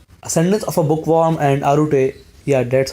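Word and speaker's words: Arte: Ascendance of a Bookworm and Arute, yeah, that's how you pronounce that name, will both air on 4th of April.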